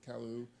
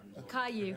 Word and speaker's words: Caillou: earlier today about some other areas on grand calu that um we're also rep i hope i pronounced that right i apologize caillou thank you sorry um and those are those